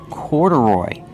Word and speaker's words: corduroy: Corduroy. Put the stress on the first and third syllable.